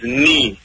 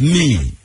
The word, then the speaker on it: Knii: It's Nii. K-N-I-I is Nii. Yeah, Nii. Nii. Yeah, so the K is silent.